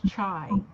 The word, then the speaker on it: Chai: turned down chai okay so it's chai there's a there's a silent h sound chai okay good